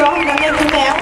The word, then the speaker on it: Nanneddu meu: Sono bravissimi quindi carichiamo un po' e adesso nannet Meu giusto nannet Meu pronuncia dirige Marina Mattana canta il coro di voce